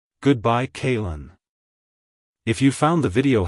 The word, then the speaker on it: Kaylen: pronounced as kin kin kaln to pronounce it correctly emphasize the first syllable k a y and then then blend it smoothly with the second syllable Lyn like Hello kaln Goodbye kin if you found the